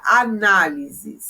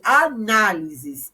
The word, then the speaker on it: análise: então olha a palavra análise se eu for falar e separando a sílaba eu faço assim nós na aí eu falei análise essa tem acento então a gente só